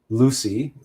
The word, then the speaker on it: Luc: Luke is Lucy, the masculine form of Lucy. In fact, in French, Luc is spelled L-U-C. Luc, like Luc Besson.